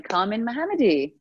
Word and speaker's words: Kamin Mohammadi: gonna let you say your full name and pronounce it the way it should be hi Kelly I'm Carmen mohammadi oh yeah you make it sound so easy